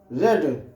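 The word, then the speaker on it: read: अब इंग्लिश क्योंकि सिंगुलर शब्द है तो इसके साथ लगेगा इज रीड का थर्ड फॉर्म रेड स्पेलिंग वही रहती है केवल प्रोनंसिएशन उसका बदल जाता है उसको पढ़ा जाता है रेड English is रेड बाय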